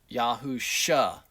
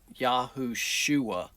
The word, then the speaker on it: Yahushua: And we do know it is a shua name, not a sha name. So, we come up with Yahushua. Yah sa- Yah saves. Not Yahusha, but Yahushua.